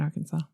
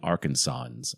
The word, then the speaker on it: Arkansas: from the United States, it's spelled like Kansas, but with an a r in the beginning. Yeah. Don't know why. Should be our Kansas.